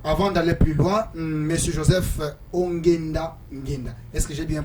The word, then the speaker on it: Joseph Ongenda Ngenda: d'abord télévision alors avant d'aller plus loin Monsieur Joseph onenda ngenda est-ce que j'ai bien prononcé votre nom oui i très bien vous